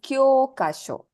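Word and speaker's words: 教科書: Nihongo no textbook is kyokasho. Kyokasho. Yes, ki, small yo, elongated with u, ka, shi, and a small yo. Kyokasho. Noto is a notebook, but this is a textbook. Hi, so that is kyokasho.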